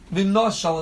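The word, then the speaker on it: ונשל: The Torah wrote vav nun shin lamed, yet it's pronounced v'noshal as if there was an aleph there. Very often we have in the Torah something called a kriyu ksiv, when something is written one way and it's pronounced a different way. So here you have a word which is, it's spelled vav nun shin lamed. The classic pronunciation of vav nun shin lamed is v'nishal.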